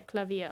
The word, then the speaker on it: Klavier: Yeah, Klavier. Okay. Just making sure I was thinking of the right pronunciation.